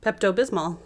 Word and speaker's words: Pepto Bismol: pink medicine right how do you say that Pepto Bismol yeah that's it I have I don't say